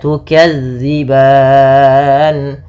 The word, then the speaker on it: تُكَذِّبَانِ: Kemudian pada lafal tukadziban, lafal zal, hati-hati teman-teman di lafal melafalkan zalnya, jangan diganti dengan huruf zai, jangan tukadziban, tapi tukadzi. Bagaimana cara melafalkannya? Ujung lidah menempel dengan gigi seri atas. Sehingga dia pelafalannya terdengar za bukan za. Maka tukadziban.